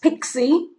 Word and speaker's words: PXE: option 60 which is the PXE option pronounced pixie standing for pre-boot execution we